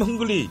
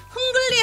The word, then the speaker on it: hungry: I'm hungry. 흥글리 하면 안 돼. 나 이럴 줄 알았어. 너무 잘했는데 R 발음이 또.